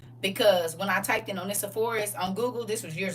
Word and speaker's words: Onesiphorus: Oh, Onesiphorus. One sip Horus. One sip Horus. That's the easy way to spell it. One, like the number one, sip Horus, and it put it all together.